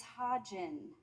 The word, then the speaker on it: Hodgen: It's Hodgen with a soft G. If it helps, you can think of it as a phonetic combination of the word ha, as in ha ha ha funny, and the alcoholic spirit gin, as in a gin and tonic, ha gin.